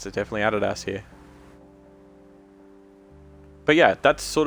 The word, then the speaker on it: Adidas: call it Adidas, but in Australia it's Adidas. This is just how we pronounce it. Like I don't know anybody in Australia that grew up knowing the brand that calls it Adidas. Like it's Adidas here because we're convicts. We pronounce things funny.